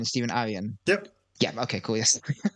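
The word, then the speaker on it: Stephen Aryan: pages um did I just did I just pronounce his name right Stephen Aran stepen Aran yep yeah okay cool yes you got um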